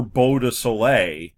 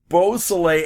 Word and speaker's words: Beausoleil: obviously a hotbed for bow to Soleil it's it's okay you said it wrong every time I even was reading it out of the paper I got it wrong beausoleil activity it's it's a